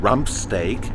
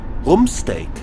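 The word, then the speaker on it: Rumpsteak: judo chops parka fun rump steak is room steak why because the letter U is pronounced ooh in German worm snake annoy us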